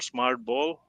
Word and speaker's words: SmartBOL: have been and uh as for the company name you can use Smart b or smart Bowl because it rhymes with Super Bowl we really like that